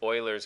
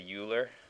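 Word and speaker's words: Euler: now this is weird it's Oilers constant I believe he was Swiss so I guess that's the Swiss pronunciation you'll sound silly if you say uler but then again it'll only be nerds that laugh at you so I guess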